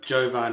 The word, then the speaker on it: Jovan: And with the line across the top, it's like a German umlaut, so it could be Jöfen. So don't know, but Jovan is how you say it in the UK.